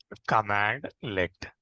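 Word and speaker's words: cmdlet: and then functions functions and then cmd let this cmd let will also be pronouncing as we'll be pronouncing as commandlet okay command le okay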